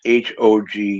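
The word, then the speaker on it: Hogue: Joe, how do you spell or pronounce H O G U E? Hog. Hog.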